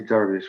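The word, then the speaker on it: درویش: of the wandering derbyshires i'm going to say darvish which is the persian pronunciation uh they had a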